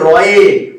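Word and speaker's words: ঋ: রয়ে, এই যে রয়ে, রয়ে হস্যই যেটা আমরা বলি, ঠিক আছে? রয়ে, রয়ে হস্যই, রয়ে হস্যই, অর্থাৎ একে উচ্চারণ করে কিন্তু রি, রি।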